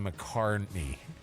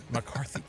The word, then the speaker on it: McCarthy: it's a rumor from team we love JJ McCarney McCarthy gosh I said it wrong in the press